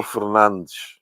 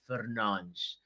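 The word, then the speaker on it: Fernandes: So, it's Bruno Fernanch. Ah, you heard him say it. Bruno Fernanch. That's how you say it, ladies and gentlemen. Say it right.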